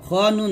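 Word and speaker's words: الخنّاس: মিন শাররিল ওয়াস ওয়াসিল খান বলবেন না খ নুন জবর খান নুন আলিফ জবর না খন্না সিন জের সি খন্না হবে খন্না এরকম একসাথে আবার বলেন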